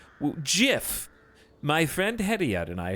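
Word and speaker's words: GIF: The venerable scholar who invented the word said it was pronounced the way I'm saying it, Jiff.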